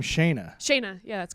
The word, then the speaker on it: Shana: Typically, my name does have extra letters in it to That's what's up. to indicate that it is pronounced the way that it is, like a Y or an I. But my parents weren't buying any extra vowels.